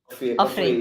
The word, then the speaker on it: Ofri: I think there wasn't one competition that we went through that the MC pronounced our name correctly, right? So how do you say it? Ofir. Ofir? Ofri.